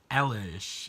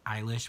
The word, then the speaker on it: Eilish: fiction it's a Billy Ellis thought I said I always pronounce it Ellis people correct me say it's Eilish which I guess makes more sense concerning how it spouts but I'll I think